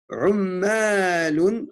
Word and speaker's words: عمالون: Ummalun. Attention, deux lettres qui se doublent ici. C'est un shadda.